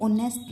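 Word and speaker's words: honest: क्या आ रही है जैसे ऑनेस्ट मैन इसका फर्स्ट लेटर एच है लेकिन जो साउंड है वो अ की आ रही है जो एक क्या है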